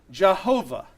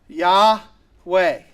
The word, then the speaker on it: Yahweh: It is a four-letter word, Yod He Vod He, and those four letters we think would most properly be pronounced Yahweh or Yahweh, right?